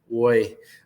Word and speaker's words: Roy: forward Hugo boy um I say it like that um because the announcer for the Mavericks says it like that Hugo it doesn't sound like Roy but it's spelled like Roy like Roy Kent um one goal one